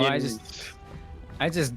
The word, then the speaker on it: yNeris: Oh, no, yNeris. the Y is impossible to pronounce, so I just ignore it. It's a silent Y, as far as I'm concerned.